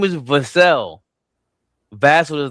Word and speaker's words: Vassell: Vassell does not. His last name does not rhyme with Castle. It's Vassell, like Sam Cassell.